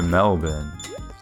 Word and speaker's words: Melbourne: he's not no it's it's like mel ben that's it it's like bin but without the eye a bit no there's no e it's melbourne no e don't worry guys